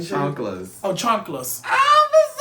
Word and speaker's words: chanclas: I'm pretty sure it's chanclas. I thought it was chancletas. I mean, maybe that's Cuban. Shit. I'm from LA. We do Mexican Spanish where I'm from.